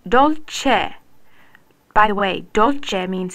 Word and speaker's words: Dolce: Right, Dolce.